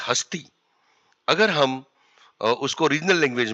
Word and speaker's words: Hastea: यहां पर हमने जो नाम दिया है उसका नाम प्रोनाउंस होता है हस्ती।